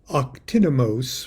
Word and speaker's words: Octinomos: demon the Worthy octimonos I'll spell it for you and then try to pronounce that again it's super great magician like Great Houdini o-c-t-i-n-o-m-o-s octinomos might acquire the then